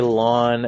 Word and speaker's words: ln: you can but sometimes people just say lawn X not written out lawn acts